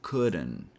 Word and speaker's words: couldn't: After this class, once you start paying attention to the words couldn't, shouldn't, wouldn't, you're going to realize that we usually don't pronounce the T sound unless the next word is U.